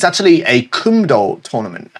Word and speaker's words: Kumdo: it's actually a Kumdo tournament. It's in the US, I believe. Kumdo is the Korean pronunciation.